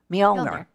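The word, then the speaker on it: Mjölnir: So the hammer, which is, I think its name is pronounced Molinar. Say again? Mjolnir.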